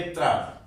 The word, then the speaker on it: त्र: और ये त्रा, इसमें ता और रा 2 अक्षरों का मेल होता है फिर इसका उच्चारण होता है त्र, त, र, त्र।